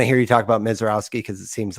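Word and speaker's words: Misiorowski: Mizorowski, yeah, I've heard Mizorowski, Roski on video, but Mizorowski, maybe the minor pronunciation was a Y- little yeah, off. yeah, I've always heard that with the Mizor, Polish influences, yeah, Owski.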